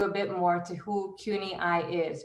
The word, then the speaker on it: CUNY-IIE: bit more to who CUNY-I is, pronounced as I, as in we see each other, and I, as in I stand here before you.